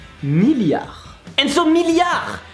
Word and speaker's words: milliard: So the first part is 1000. Same as treadmill, same as 1000. And then you have yard. And I would say that it's like yard.